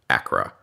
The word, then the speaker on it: ACRA: It's pronouncing its acronym, ACRA.